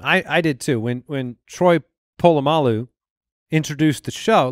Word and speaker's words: Polamalu: Yeah, it's Troy Polamalu. He's saying his name wrong. But he says Polamalu. Right. But like. It's a subtle difference. It's right. A pole instead of a Paul.